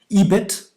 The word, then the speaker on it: EBIT: And so some of them, like you said, were EBIT, as it's usually pronounced, right?